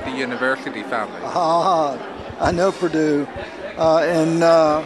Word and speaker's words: Purdue: your last name my last name is purdue it's spelled p u r d we yeah no